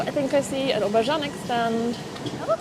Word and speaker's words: obwarzanek: Obwarzanek.